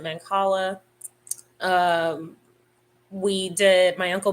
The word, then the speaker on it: Mancala: how to play Mancala I used to pronounce that man Kayla but most people pronounce it Mancala um we did my